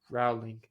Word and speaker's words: Rowling: I got to start pronouncing her name correctly as well. Rowling.